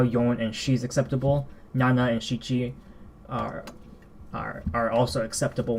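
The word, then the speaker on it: 七: So for here, we do have Nana, like I've said. So this is still perfectly fine. Nana. But there is a second pronunciation that's commonly used. Shichi.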